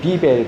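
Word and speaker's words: Bibel: 독일어에서는 비벨 그래요. B-I-B-E-L. 스페링이 조금 다르고 이제 발음이 좀 다르죠.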